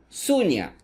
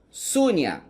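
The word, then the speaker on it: शून्य: Vazio se pronuncia Sunya. Então aqui está escrito em sânscrito e aqui usando o nosso alfabeto. Sunya, vazio.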